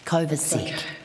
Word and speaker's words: Kovacic: Kovacic, I'm going going to have to get your name pronounced correct. I do apologize. Kovacic.